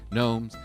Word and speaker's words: gnomes: Gnomes. It rhymes with scones. Gnomes and scones.